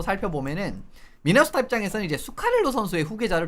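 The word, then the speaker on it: Zuccarello: 아 수카렐로 선수는 주카렐로라고 불리는 그 선수입니다. 근데 이제 어 뭐냐 어디냐? 노르웨이는 이제지 발음이 그 스 같은 느낌으로 나기 때문에 예 그 스웨덴이랑 마찬가지로 그래서 수카렐로라고 하는 거예요. 말씀을 드리는 겁니다.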